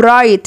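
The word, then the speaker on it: write: ارت كلاس ارت كلاس يكتب رايت الدبليو سنت رايت رايت الدبليو لو جي وراها ااون يعني البلو ماتنطقش يبقى اسمها رايت رايت رايت رايت يعني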